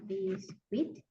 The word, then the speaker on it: biscuit: Um biscuit. Remember you don't pronounce the U.